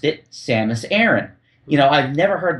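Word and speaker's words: Samus Aran: TV God rested Soul yeah and Adam cesler pronounced her name seus Aon and I'm thinking have I been saying it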